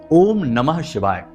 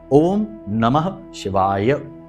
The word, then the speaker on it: ओम नमः शिवाय: पूरा मंत्र उच्चारण करेंगे बहुत से लोगों को हमने देखा कि मंत्र ही सही नहीं बोल रहे तो काम कैसे होगा मंत्रों में शक्ति है ऊर्जा है तो बोलते हैं ओम नमः शिवा ओम नमः शिवा तो ना तो नमः बोला ना ही शिवाय बोला तो ये गलती नहीं